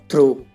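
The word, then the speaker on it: through: और ऐसी एग्जाम्पल है हाई और थ्रो। इन दोनों में वर्ड के लास्ट में जी एच है, ये साइलेंट है तो इसे हाई पढ़ेंगे और इसे थ्रो पढ़ेंगे।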